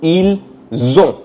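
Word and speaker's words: ils ont: plus o which becomes eel zone the pronunciation is eel zone okay eel zone That's how they say they have $30.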